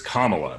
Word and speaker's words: Kamala: want to be you know lecture you for mispronouncing her name it's it's kamala right kamala not not on any of these